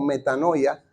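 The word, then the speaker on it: μετάνοια: está ahí escrita pero más o menos la pronunciación es meta no veo o metanoia que nuestras Biblias la mayoría de las versiones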